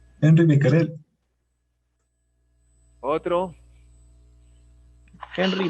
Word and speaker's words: Henri: sería ahí si no sería una y sería henry y acá sería de repente becker el no como es francés henri becquerel y así hay una serie de nombres extranjeros que nosotros tratamos de pronunciarlo como si fuese en inglés pero no es el